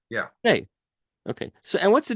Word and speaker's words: Schnee: So Bill Schnee, that's the proper pronunciation of your name, correct? Schnee, yeah. Schnee.